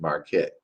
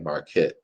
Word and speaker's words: Marquet: It's by David Marquette. Or it's the way you spell his name is like Marquette, but you pronounce it Marquet.